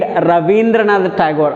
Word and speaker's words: Rabindranath Tagore: which is awarded for Nobel Peace Prize, is Rabindranath Tagore. As for the written language, we need to write R-A-B-I, Rabindranath Tagore. As for the pronunciation, we need to read Rabindranath Tagore according to Bengali, as per he is Bengali poet.